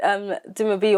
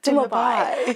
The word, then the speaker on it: Dumabi: He was like, you should name it Dumabi, or like your Nigerian name. And then he joked like, oh, like European people will pronounce it like Dumabai.